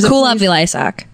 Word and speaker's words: Kulap Vilaysack: It's Kulap Vilaysack.